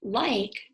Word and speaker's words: like: Now that E at the end is silent, but if you know those rules, you know that if I is saying I, that E is making it do that.